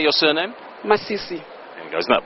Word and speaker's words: Masisi: Masisi.